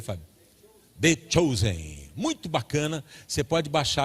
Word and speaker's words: The Chosen: Como é que pronuncia, Fábio? The Chosen.